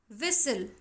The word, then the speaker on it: whistle: Whistle, in whistle T is silent.